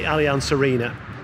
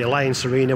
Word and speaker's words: Allianz Arena: Munich football club at the Allianz Arena or the alliance Arena whichever way you want to pronounce it so you can see